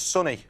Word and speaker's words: Sonny: It's Sonny. Yeah, you say it like there's a U, but it's actually spelt with an O.